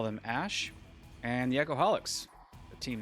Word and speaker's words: æ: being linguistically correct and going with the pronunciation ash um that is how it is pronounced so we're sticking with